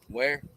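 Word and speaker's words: Ware: your first name David is it last time where spell it w-a-r-e date of birth a 1287.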